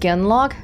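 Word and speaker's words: genlock: hear that holy crap it's pronounced genlog it's a gen lock in my entire Origins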